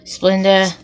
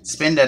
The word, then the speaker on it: Spinda: can't say it either Splenda Spinda not Splenda it's not sugar I can't say this